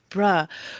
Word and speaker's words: bruh: And she's like, "It's not bro. It's bruh."